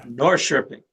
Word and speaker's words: Norrköping: I'm not going to be able to pronounce the name of that orchestra. Norrköping, That's what I Norrköping that's what I Symphony.